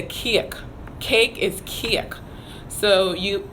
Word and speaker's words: kiek: So cake is kiek. And that's spelled K-I-E-K. So cake is kiek.